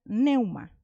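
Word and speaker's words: πνεῦμα: en el numeral 4151 y se pronuncia neuma que significa corriente de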